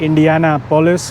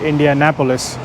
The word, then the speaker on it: Indianapolis: because I call it Indiana police but I think the Americans call it Indianapolis so they're this emphasis is on a different syllable but anyways it's a